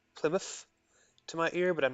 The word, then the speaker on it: Plymouth: Scots tends to pronounce the final TH sound for a F in Plymouth. Plymouth to my ear, but I'm not sure how official Plymouth, that is.